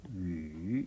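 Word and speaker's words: 鱼: 물고기를 이제 중국 사람들은 위 하고 말합니다. 위. 잠깐만요. 제 성조 발음을 잘못했군요. 위 하고 발음합니다.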